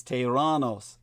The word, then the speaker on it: Theranos: Take the story of Elizabeth Holmes and the rise and fall of Theranos, properly pronounced in the ancient Greek as Tyrannos.